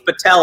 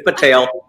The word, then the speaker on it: Patel: right it's patel and i've had tails tell me it's patel i'm like you are wrong it is not the tell it's patel sit down don't don't